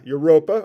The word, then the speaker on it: Europa: do you say it it's like Europe yeah it sounds like Europe yeah yeah Europa okay ganam made Europa